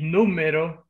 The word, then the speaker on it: número: Mi número favorito. Mi número favorito. Número. Sí, número. Sí, this is a written accent when you say this word estrújula.